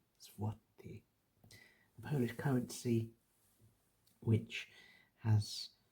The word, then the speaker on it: złoty: and you're unaware that this L with a line through it is not a L at all, but it's a kind of a W, you might be inclined to say zloty as an English speaker,